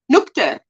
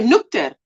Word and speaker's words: Nuchter: The CH in nuchter is pronounced in English like the K, nuchter. So nuchter.